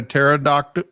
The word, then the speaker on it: pterodactyl: Do you know why when a pterodactyl urinates, he doesn't make noise? Why is that? Because the P is silent.